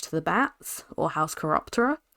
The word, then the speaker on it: Chiroptera: the Bats, or House Chiroptera, which I actually know how to pronounce this year. I kept on saying House Chiropractor for a good chunk of November there. Not good.